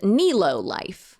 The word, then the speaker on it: Nelo Life: deep dive that I did so I was pronouncing it wrong it's called Neo life so Neo life emerged as an attempt to